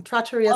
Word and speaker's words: Trattoria: Velarris, sorry, Hospitality and the owner of the acclaimed Trattoria Stella in Traverse Trattoria Stella, yep. It rhymes with pizzeria. People ask all the time. Trattoria Stella.